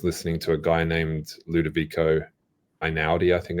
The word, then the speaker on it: Ludovico Einaudi: When I was writing the Nevernight books, I was listening to a guy named Ludovico Einaudi, I think it's pronounced.